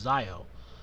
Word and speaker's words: Zi-O: Or Zi-O. It's going to be pronounced Zi-O.